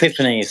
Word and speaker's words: Epiphanes: How do you say it? Epiphanies. Epiphanies. English, it is normally pronounced. Epiphanies, there you go.